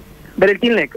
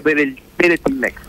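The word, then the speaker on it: Weretilneck: Breltinleck, el que era el antiguo gobernador de la fuerza Juntos Somos Río Negro. ¿Cómo es el apellido? Es Weretilnec, es con W. Weretilnec, sí, pero se pronuncia Weretilnec.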